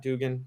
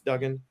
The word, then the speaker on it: Duggan: and Max is it Duggan is how you pronounce his name right not Dugan It's Duggan I think yes Duggan that's where the Bryce